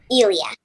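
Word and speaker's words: Ilya: I don't know how to how do you pronounce it Ilia Ilia okay what's what's it like working with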